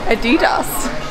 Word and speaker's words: Adidas: Adidas? Yeah, that's how you say it. German.